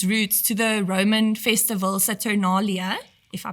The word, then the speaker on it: Saturnalia: I heard as well that Christmas actually owes its roots to the Roman festival Saturnalia, if I pronounced that correctly. Citronalia. Saturnalia.